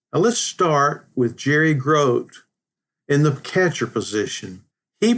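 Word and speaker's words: Grote: let me say that I've heard his name pronounced groy also but I always heard it was Gro so that's where I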